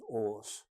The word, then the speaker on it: Aas: very difficult because it's spelled AAS and pronounce OS there was a three-year